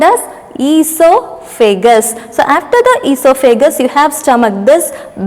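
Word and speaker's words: oesophagus: it is called as esophagus there is supposed to be a o before e okay o is silent so e so figgis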